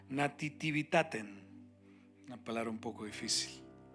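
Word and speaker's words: nativitatem: palabra Navidad deriva de una palabra en latín que se pronuncia nativitaten una palabra un poco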